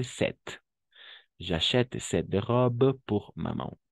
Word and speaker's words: cette: féminin singulier n'est-ce pas 7 double T e à la fin on va prononcer 7 j'achète cette robe pour